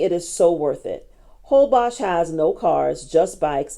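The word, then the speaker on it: Holbox: go to Cancun, I say go to Isla Holbos or it's spelled box, but it's pronounced Holbos.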